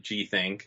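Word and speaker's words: Gthnk: about in production is G think this one's a weird one without the i GTH and k comm yeah so i do pronounce it g think so you got that right it's not actually hosted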